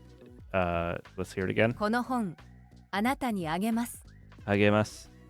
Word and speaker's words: あげます: Agemasu. They like to pronounce it almost like lasagna. Like it's like, I think it's like NGA. The G's are kind of weird.